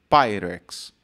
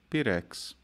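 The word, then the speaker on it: Pyrex: pelo professor dizendo que a pronúncia correta era pyx e não pirex no que meu pai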